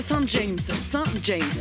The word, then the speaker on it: Saint-James: Aujourd'hui, je suis à Saint James. Mais si je le prononce correctement, je suis à Saint-James. Parce que si vous alliez de l'autre côté de la Manche, très certainement vous trouveriez Saint-James.